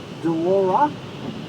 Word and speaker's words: Delora: Delora? Delora. How do you spell that?